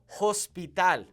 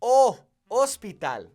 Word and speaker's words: hospital: is pronouncing their agents please do not pronounce your H's when speaking Spanish for example you do not say hospital that is incorrect you would say oh Hospital okay it's not Hotel